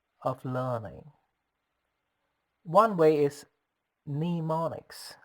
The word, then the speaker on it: mnemonics: learning one way is mnemonics how do you spell it it starts with M and E mo ni CS the first letter M being silent and pronounced since a